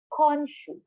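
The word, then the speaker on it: 今週: Konshu. Okay? Konshu. For this week. Now, one time again, slowly, per syllable.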